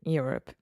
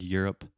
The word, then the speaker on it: Europe: people will be in Europe yeah like it's easier yeah can we focus one second on the pronunciation of the word Europe Europe yeah so just think about you're up you're up Europe Europe yeah a lot